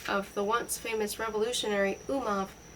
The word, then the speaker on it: Umov: the once famous revolutionary Umov, rhymes with Zumov, and a German lady from Riga.